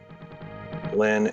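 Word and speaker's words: Linne: So you spell it S-H-A-I, first name Shy, Lynn, L-I-N-N-E, and the song I'm talking about is called The Jealous One.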